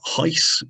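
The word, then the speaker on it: HIES: explain later on uh heiss is how it is pronounced h-i-e-s is a way of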